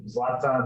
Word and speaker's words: Zlatan: Zlatan.